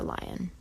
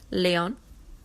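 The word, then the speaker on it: Lyon: airfare to Paris or lion I'm sure do not pronounced lion you can ask your sister Leon l y o n I don't suppose your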